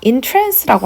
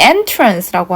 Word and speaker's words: entrance: entrance라고 하면요. 매료시키다라는 뜻입니다. 우리 entrance라고 하면 똑같은 스펠링인데요. 입구라는 뜻이 있어요. 조금 다른 발음으로 entrance라고 하면 매료시키다라는 뜻입니다.